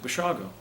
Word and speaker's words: Basiago: sounds like bossy go-go's you pronounce it what is it and I said Bashar go he said Italian he